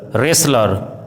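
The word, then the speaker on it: wrestler: यदि किसी वर्ड में WR साथ में हो तो W का उच्चारण साइलेंट होता है, जैसे wrong, right, retain, रिस्ट, ring, wrinkle, Regal, रेसलर, wrapper.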